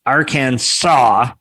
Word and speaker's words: Arkansas: it stated the names the name would be pronounced arcane saw even though they spell it our kansas and